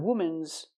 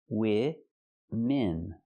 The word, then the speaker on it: women: Not woman's. It's women. Use the short I sound for both syllables. I like this is. Wim en. Women.